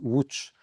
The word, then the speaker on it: Łódź: d'honneur de la ville de Lodz, qui se prononce Łódź en polonais et voilà, ça a été une formidable, Celui qui t'a fermé la reconnaissance.